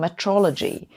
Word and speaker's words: metrology: take for example Quantum Metrology that's not a mispronunciation of meteorology that's making better measurements